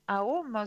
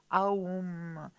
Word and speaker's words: Aum: Alors le mot sanskrit Aum se prononce comme Aum et représente la triple division du temps, état d'éveil, état de rêve et sommeil profond.